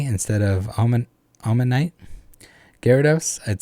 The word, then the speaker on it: Gyarados: say oh manatee instead of almond almond knight gyarados i'd say guy gyrados instead of gyarados or you say you'd say